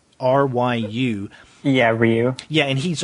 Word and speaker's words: Ryu: And along with Kei is you pronounce his name Ryu? R-Y-U.